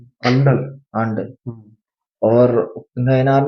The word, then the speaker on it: Andal: हम्म, तो कुछ वुमेन्स का नाम बता देता हूँ, एक अलवर में थी अंडल। अंडल, आंडल।